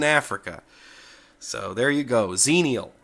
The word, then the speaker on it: Xenial: the corect correct pronunciation of zenial and I pronounced it as jeanel um I looked it up and the pronunciation